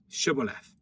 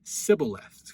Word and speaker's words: shibboleth: unto them say now shibboleth and he said sybil left i can't say he has the he can't get the sh sound it's an s to him for he could not